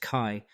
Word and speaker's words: CHI: CHI 2026, pronounced Kai, the premier human-computer interaction conference, wraps today in Barcelona.